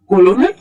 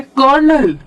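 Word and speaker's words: colonel: ओ एन ई एल अब अगर ये पेपर प लिखा होगा तो आप कैसे पढ़ोगे कोलोनल नहीं इसका प्रोनंसिएशन है कर्नल तो इसमें स्पेलिंग में तो आर है ही नहीं लेकिन बोलते वक्त हम आर यूज करते हैं तो कुछ चीज ऐसी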